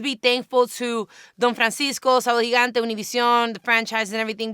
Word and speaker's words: Sábado Gigante: Yeah, Sábado Gigante.